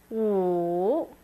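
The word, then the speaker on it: 五: sharp four s and five is W third accent make it dip and then come back up W next you have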